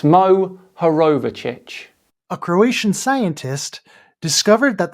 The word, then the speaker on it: Mohorovičić: In 1909, Andrija Mohorovashish, Even when there is a phonetically spelled word, clear for anyone to see, Kyle still gets it wrong. It's Mohorovičić.